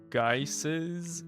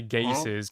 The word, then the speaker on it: geyser: I want to add a bunch of geysers. Is that how you say it? I didn't want to say gaysers because that's definitely not how you say it.